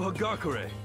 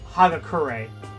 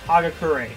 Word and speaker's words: Hagakure: dub for this guy in particular because they mispronounced his last name i'm yasuhiro hagakure hero for short take it easy yeah i know i will his last name is actually pronounced hagakure that's that makes that always annoys me whenever